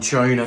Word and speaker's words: tuna: So, we pronounce it like a chew, like a train. Choo choo.